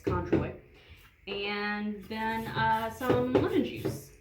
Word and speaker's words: Cointreau: is not what I have, but you were pronouncing it Contraire. and I was pronouncing it Cointreau, and then we looked it up and we were both wrong. It's Cointreau.